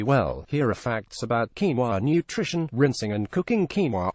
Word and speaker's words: quinoa: By now you've probably tasted quinoa, and probably even know how to pronounce it quinoa.